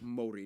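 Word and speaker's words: Māori: Yes, by the way, it's pronounced Maori, not Dang. Maori, Maori.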